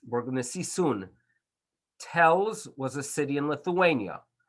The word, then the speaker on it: Telshe: going to see soon tells was a city in lithuania obviously it was pronounced by the jews one way and by the locals it had its own pronunciation and therefore although it